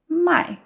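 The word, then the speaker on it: 卖: I and my is fourth tone so it sounds more angry and more forceful my and then when you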